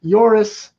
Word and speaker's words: Joris: It's pronounced Joris and Sanne. Thank you, Connor, for clarifying that.